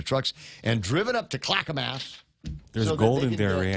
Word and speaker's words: Clackamas: Oh, Ana Delgado says it's pronounced Clackamas. My bad. Whatever. Calacas. Calicus.